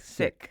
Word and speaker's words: Sikh: One One should say sick, not seek. Yeah, it's not something that I would correct, but it's but it it is the right way to say it.